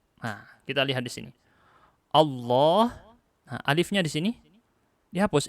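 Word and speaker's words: الله: Allah, nah, alifnya di sini dihapus ini.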